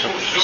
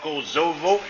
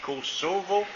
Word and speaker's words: Kosovo: Le S en 2 voyelles, en français, c'est Kosovo. C'est ça. C'est pas Kosovo, mais Kosovo.